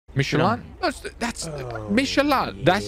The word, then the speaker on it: Michelin: No, Michelin, not Michelin. Michelin. You are in a French car. That's you fucking respect the French way.